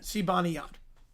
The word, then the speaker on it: Zibanejad: The pronunciation for Zibanejad, that's what the Olympics gave. That's what the Olympics gave. That's what their website said. Zibanejad.